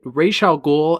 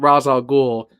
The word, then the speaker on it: Ra's al Ghul: They actually pronounce it Ra's al Ghul and Ra's al Ghul both ways on the show.